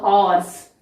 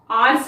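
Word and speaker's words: horse: एन आर, an honest person, a हॉर्स। आर्स नहीं बोलेंगे, ह का प्रोनाउंसिएशन, उच्चारण हम क्लियरली करते हैं हॉर्स में, लेकिन ऑनेस्ट में और आर में एच क्या है?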